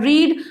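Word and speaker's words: read: पढ़ने को बहुत है रीड और अगर मैं पढ़ने की सड़कों की बात करूं तो इसकी स्पेलिंग तो रीड ही होगी लिखने में आ रही केडी मगर इसका प्रणाम किया जाएगा रेड बुल के सो आई हैव रीड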